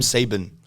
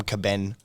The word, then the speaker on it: Sieben: I get always so many say people pronounce it wrong. Sebem. Sieben. Sieben. Yeah, but everyone always... I get the Caben, the.